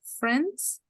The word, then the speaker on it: friends: Remember that the I is silent, friends.